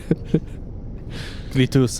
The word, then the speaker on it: Clitus: Clitus. It's pronounced how it's spelled.